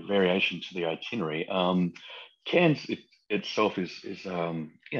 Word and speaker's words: Cairns: carrier Cairns I always get confused do you pronounce the s or not yes you do so you cans like like yeah cans not not calms but but cans like like the like French